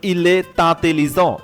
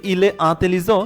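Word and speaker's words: il est intelligent: যেমন ইলে তাতেলিজ ইলে তাতেলিজ মানে তিনি বুদ্ধিমান। এটা যদি ইলে আতেলিজ সেটাও হয়।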